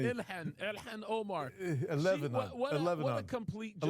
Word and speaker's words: Ilhan Omar: Eleanar Oman, or how do you even say that? That is so funny. Ilhan Omar.